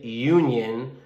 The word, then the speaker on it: union: rights of employees so although this is a vowel u is a vowel it has the sound of a consonant y united it has the sound of a y therefore we would say